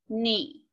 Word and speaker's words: knee: So usually you're gonna see a K-N, like the word knee. G-N you might see like the word gnat, which is one of those little pesky bugs that flies in front of you. W-R, I could see it in wrist, maybe wrong. Those are all silent letters. That first letter, the K, the G, and the R.